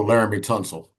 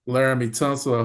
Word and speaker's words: Laramie Tonsel: did I say his name correctly oh Laramie Tonsel Laram tonsel I was close there, Gary.